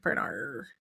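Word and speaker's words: Bernarr: The name is Duran Bernard. Just no D at the end. Bernard.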